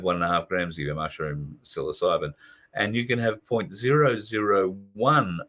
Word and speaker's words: psilocybin: Psilocybin, 1.5 grams of psilocybin. I've heard of most drugs. The only reason I can pronounce that one is because it's popped up